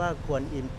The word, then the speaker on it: กวนอิม: นะ ครับ องค์ กวนอิม อัน นี้ อ่าน ว่า ควร อิ่ม นะ ครับ เดี๋ยว ผม